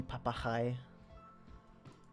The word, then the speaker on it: papagaai: Yeah, if you wanted to just say parrot, it would be papagaai. The hard G.